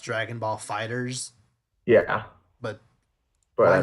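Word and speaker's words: Dragon Ball FighterZ: okay, for the record, it's technically pronounced Dragon Ball Fighters, Yeah, but but why I make mean, the it's Z it's big?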